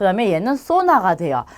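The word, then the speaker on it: zona: 그 다음에 얘는 소나가 돼요. 자, 그래서 쌍시옷으로 수모, 아수까르, 소나 하셔도 되고요. 스 발음으로 수모, 아수까르, 소나 이렇게 발음하셔도 돼요.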